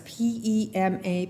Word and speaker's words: Pema Chödrön: So if you are interested in learning more about Buddhism may i suggest that you start with Pema Chödrön that's p-e-m-a, Pema, Chödrön c-h-o-d r o n.